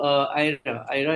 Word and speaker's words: Ira: So, Ira is the right pronunciation of your name, right? Is it? Yeah. So it's Ira, Yes.